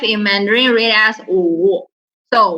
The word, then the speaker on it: 五: Then remember, once you remember crying sound, the "oo" means crying. So it's same like number 5.